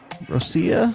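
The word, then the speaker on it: Rossiya: is another Russian one Rosia I believe is how you pronounce it yep Oh yeah I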